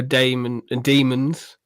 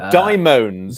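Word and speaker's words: Dæmons: I saw the demons in, or daimons, as Damaris Heyman insists it should be pronounced.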